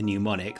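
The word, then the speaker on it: mnemonic: First of all, a munonic. A pneumonic. A pneumonic. That's how you say that word.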